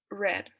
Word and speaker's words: read: an irregular verb it's red it's written the same way but pronounced differently so it's gonna be